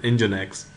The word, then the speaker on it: Nginx: spelled as n g i NX but it's pronounced at engine X is a very fast web server and it's